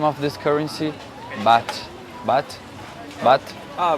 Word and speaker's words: baht: Baht.